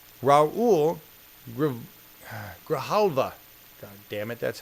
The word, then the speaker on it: Grijalva: And it's Raul Grijalva. God damn it, that's how his last name is pronounced.